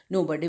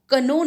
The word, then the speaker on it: know: KNOW को कनो नहीं करेंगे, के साइलेंट होता है, इसको हम रीड करेंगे नो.